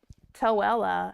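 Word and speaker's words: Tooele: do it's awesome so it says you're from towella and I'm glad I asked you how to pronounce that that's somewhere in Utah I imagine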